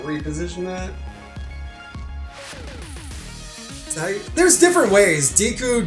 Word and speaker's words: Deku: Diku, Deku. Or if you watch Boku Nohiro, you probably pronounce it Deku because of the main character.